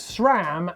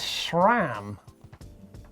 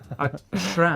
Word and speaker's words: SRAM: Leon Rubin, why does Blake always pronounce SRAM as SHRAM? Because I thought it was spelt with an E. No, I'm joking. SRAM.